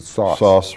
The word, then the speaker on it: Soos: soos whatever s-o-o-s yeah some people pronounce it sauce right then as a